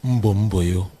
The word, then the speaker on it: Mbomboyo: Okay, it's actually supposed to be Mbomboyo. Mbomboyo. Avoboyo, breakthrough. Okay. But somehow, musically, it sounds better saying Mbomboyo or Mbomboyo, like some people say it, okay.